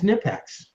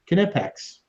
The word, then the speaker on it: Knipex: do you say it it's nipex knipex yeah it's it's the thing is we're all saying it wrong but yeah you actually do have to pronounce the k I thought you did